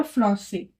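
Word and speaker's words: français: बट अगर हम इसके ऊपर एक्सेंट लगा देते हैं तो उसका प्रोनाउंसिएशन हो जाएगा फ्रॉस से।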